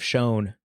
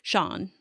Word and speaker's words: shown: say miseled right and you say instead of shown I used to say I used to say the Canadian way Sean now I know I'm in America I got